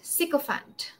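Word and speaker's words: sycophant: it yeah cant Fant siop Fant your Fant is like elephant right exactly it's f a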